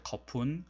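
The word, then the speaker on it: ขอบคุณ: 그래서 한번 발음을 한번 해보면은 좀 빨리 발음할 때 거푼, 거푼, 거푼캅, 거푼카 뭐 이런 식으로 발음을 하는 것이 오히려 현지인들의 더 가까운 발음이라고 볼 수 있습니다.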